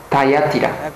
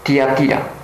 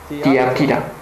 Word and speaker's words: Tiatira: la iglesia de tiatira los estadounidenses y los chicos británicos pronuncian tatira pero la pronunciación real es tiatira tiatira en el versículo 18